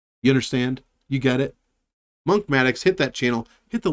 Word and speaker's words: Monkmatics: It's not Monk MMA Ticks. It's not Monk Manalytics, although that's a pretty good name, Monk Manalytics. It's Monkmatics, like mathematics, but I'm Monk, so it's Monkmatics.